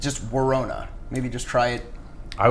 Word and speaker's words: Worona: Worona. It's like Corona. Okay. We've talked about this before. Actually, pretty much daily. It's like a daily conversation with us. All right. It's just Worona.